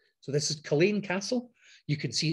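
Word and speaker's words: Culzean Castle: can't pronounce it properly yes you're all saying culzine at the moment but it's actually pronounced colleen castle so this is colleen castle you can see it's very dramatic it's on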